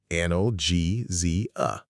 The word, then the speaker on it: analgesia: Analgesia. Analgesia.